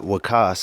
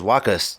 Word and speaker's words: Waqqas: So, the way I try to explain it is like Lacoste, that brand. Yeah. Just take off the L, put a W, and take off the T in the end.